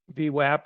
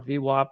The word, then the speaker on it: VWAP: but you know i i learned about v-wap or v-wop whatever you however you want to pronounce it a number of years